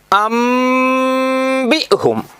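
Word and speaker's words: أنبئهم: ബാ വന്നപ്പോൾ ആ നൂനിനെ തന്നെ കളഞ്ഞു, ഒഴിവാക്കി. എന്നിട്ട് അതിന് പകരം മീം കൊണ്ടുവന്നു. എഴുത്തിൽ നൂനാണ് കാണുക. എ എ എ എ ഇങ്ങോട്ട് എഴുത്തിൽ നൂനാണ് കാണുക. പറച്ചിലിൽ, ഉച്ചാരണത്തിൽ എന്താ ഉണ്ടാവുക? മീം. അംബിഹും. മനസ്സിലാവുണ്ടോ?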